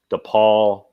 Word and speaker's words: DePaul: that's not the poll the ball the other DePaul is that how it's pronounced yeah yeah it's the ball with a